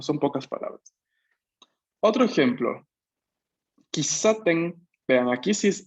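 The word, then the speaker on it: 喫茶店: Tenemos aquí, claramente, ¿no? Una ki, una sílaba ki, una sílaba sa, una sílaba te y una sílaba n al final. Pero aquí mi Romaji me dice kisaten. Entonces hay una S duplicada. Pequeño tsu. Ki, pequeño tsu. Sa, te, n. Kisaten.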